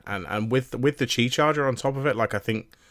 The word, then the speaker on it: Qi: does is, it's a key charger that can be, or not key charger. Is it key charger or is it Qi charger? It's Qi. Qi, right. So I think that's how it's pronounced.